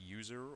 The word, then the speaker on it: USR: Moving on from temp, we have USR, pronounced user or Universal System Resources.